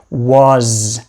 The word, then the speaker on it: was: be what what next the s in was usually makes more of a z sound was and that's not special